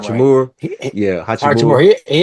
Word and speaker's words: Hachimura: Uh, Rule Hatchimer. I can never say his name right. Hachimura, He, yeah, Hatchimer.